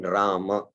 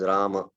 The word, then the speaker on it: Rama: the full syllables in Rama. It is not Rama, Ram, it is Rama.